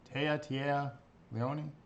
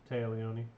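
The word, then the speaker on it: Téa Leoni: In Switch, please correct me because I am horrible pronunciations. Tia Leone? Taya Leone.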